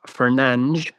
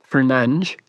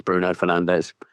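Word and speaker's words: Bruno Fernandes: So, it's obviously going to be Bruno Fernanch, which is, I believe, how you pronounce his surname. Fernange.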